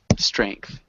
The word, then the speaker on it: strength: Try that th sound at the end.